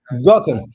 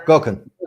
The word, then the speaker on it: Gokhan: Gokhan. Yeah, Gokhan.